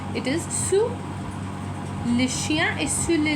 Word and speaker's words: sous: Sous is used for under. Again, the s at the end is not pronounced, it is silent. It is sous.